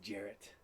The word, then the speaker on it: Gerrit: It's Jarrett. Jarrett. That's hilarious. Okay. How do you spell that? Gerrit.